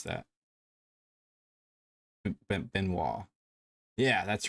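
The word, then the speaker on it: Benoît: I think that's how you pronounce that. Benoit.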